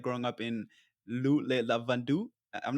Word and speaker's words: Le Lavandou: and what was life like growing up in Lavandou? I'm not sure if I pronounced that right. Le Lavandou.